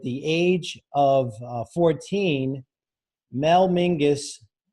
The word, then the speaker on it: Menzies: age of 14 Mel Mingus pronounced Mingus it's actually spelled Menzies that's why this could